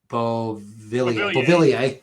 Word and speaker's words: Beauvillier: Beauvillier. There it is. I always look at his name and don't want to say it right, but Beauvillier, that was clicking as a second line.